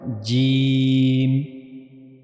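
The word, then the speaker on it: ج: So that's how we have to pronounce sa. This is called gym.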